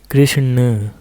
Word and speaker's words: कृष्ण: के किया जाता है जब आप कृष्ण का उच्चारण करेंगे तो आखिरी में जो ना आ रहा है इस ना को अपने जीभ और मूर्धा को स्पर्श कराते हुए किया जाएगा कृष्ण जैसे लड़के में आप